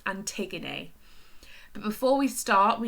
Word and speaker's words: Antigone: So it's pronounced Antigone.